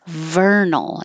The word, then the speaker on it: vernal: Vernal. If you need trouble, if you have trouble, if you need help with a V, think about making an F because it's the same exact position.